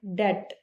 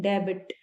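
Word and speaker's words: debt: अगला वर्ड है डे। बहुत से लोग इसे बोलते हैं डेबिट। लेकिन आपको ऐसे नहीं बोलना है। इसमें बी साइलेंट होता है। तो इसको डे बोला जाता है।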